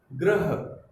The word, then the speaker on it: ग्रह: ग्रह, पहले हमारा उच्चारण ग पे आया, फिर र पे आया, फिर ह पे आया। ध्यान से देखो बच्चों, पहले हमने ग का उच्चारण किया, फिर र का उच्चारण किया, और फिर ह का।